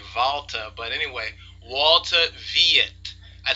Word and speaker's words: Walter: um Walter Walter or since he's a German I should really say valter but anyway Walter vet